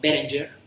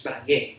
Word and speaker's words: Berenguer: O por ejemplo Berenger, es un señor que se llama Tom Berenger, ¿les suena? Es Berenguer, pero pronunciado en inglés.